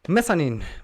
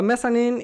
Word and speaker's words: Mezzanine: Mezzanine by Massive Attack. And I know that's the pronunciation.